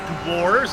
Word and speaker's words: Dewar's: It's made it clear to me it is pronounced Dewar's. It is Dewar's Candy, and they actually have sent many a GSRC.